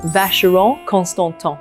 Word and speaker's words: Vacheron Constantin: And remember, the CH is like a sh, and whenever you see the N, it's nasally, it's So, Vacheron Constantin, Vacheron Constantin.